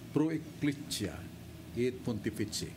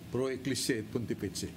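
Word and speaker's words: Pro Ecclesia et Pontifice: O kadawat siya pasidungog sa dupapa ang Pro Ecclesia et Pontifici. Pro Ecclesia et Pontifici. That's the pronunciation.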